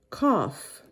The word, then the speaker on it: cough: when you see it when you see it at the end of the word a lot of times it's pronounced like an f so it's cough cough